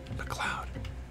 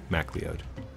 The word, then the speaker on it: MacLeod: it's the music it's Kevin's music Kevin mleo McLoud MacLeod Mac leod I say it phonetically so I remember how to spell it